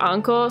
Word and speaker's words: Ankh: the characters is called ankh um a-n-k-h um and like it's a japanese show so like they pronounce it like anko sometimes uh like oh like